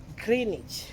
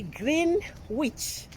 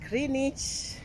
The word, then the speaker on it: Greenwich: here is the B I can say the municipality of greenage but if you can spare it will be green witch but we don't even